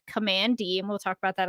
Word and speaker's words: Kamandi: the short starts out with command which is pronounced command D and we'll talk about that a little later